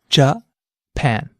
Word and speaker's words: Japan: of stress in it try saying the word Japan aloud jaw pan notice how the pan part of the word stands out that's because this syllable is stressed try saying the word